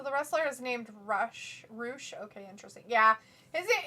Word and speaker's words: Rush: is like so the wrestler is named rush roosh okay interesting yeah is it yeah it's it's not and it's not pronounced russia's pronounced roosh but yeah it's spelled that way vindicator says